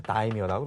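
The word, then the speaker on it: 大名: 이 지방의 영주를 한자로는 이제 대명이라고 하지만은 일본 말로 읽으면 이것을 다이묘라고 합니다.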